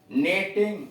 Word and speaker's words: knitting: रंग, नो, नेटिंग, honest, शाम। आगे लिखा है रंग, नो, नेटिंग, ऑनेस्ट और शाम। नेटिंग में के तथा दूसरा वाला टी साइलेंट है।